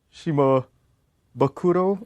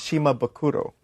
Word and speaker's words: Shimabukuro: Oh, cuz see I always pronounce his as Shima Bakuro. Then you can say you can say that to me too then cuz we have the same exact last name. But Jamie always says like that's not how you spell it. That's wrong. He writes it Shima. Okay, that's spelled wrong. But if you pronounce it that way, then that's fine.